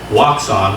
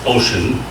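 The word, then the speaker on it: Wouxun: Waxon, which is actually pronounced Ocean, it's a Chinese company.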